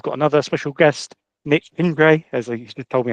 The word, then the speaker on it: Gindre: Uh today we've got another special guest, Nick Pingray as he told me how to pronounce his surname so uh we should be should be good on that.